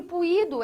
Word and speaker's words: puído: Puído. O que você tem aqui, ó, é um hiato. Segunda vogal do seu hiato. E sozinho na sílaba este I, sim. Acompanhado de NH, não. Antecedido de ditongo decrescente, também não. Então recebe acento.